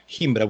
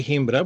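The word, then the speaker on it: Gimbra: Himbra with a G. G as in group. G-I, M as in mom, B as in boy, R-A. So you pronounce it as if it's an H. We say Himbra.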